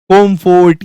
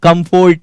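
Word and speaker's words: comfort: नहीं बोल देना है, कॉम्फोर्ट या कंफोर्ट नहीं, फर्ट होता है ये, कंफर्ट।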